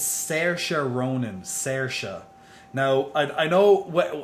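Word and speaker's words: Saoirse: how do you say this actress's name it's sarcer ronan sertia now i know a lot of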